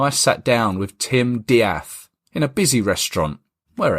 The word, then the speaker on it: De'ath: The surname is spelled death, as it were, but it's pronounced Diath.